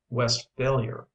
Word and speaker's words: Westphalia: is greatly overrated but his pronounced West's failure with the accent on the last part where it belongs in Germany however there